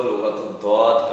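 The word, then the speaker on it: لغة الضاد: सिर्फ इसलिए Arabic language को लुगत-उद-दौत कहा जाता है। आप जानते हो दौत का प्रोनाउंसिएशन कैसे होता है, कहाँ से होता है?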